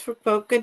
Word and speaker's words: Fukuoka: I'm gonna pronounce it wrong. Fukuoka. Fukuoka? Yes, Fukuoka, Japan.